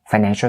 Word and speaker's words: financial: And can you teach them how to say financial services correctly? For financial, that and sound has to be clear. Financial, shul. Don't enunciate that shul sound too much. Financial, shul. It's really quick and short.